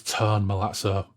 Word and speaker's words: Tone Malazzo: Newsflash people, I've been saying Tone's Christian name wrong for about 70 odd episodes. He corrected me back in the day. I started saying it correctly, and now I've been recorrected. It is Tone Malazzo.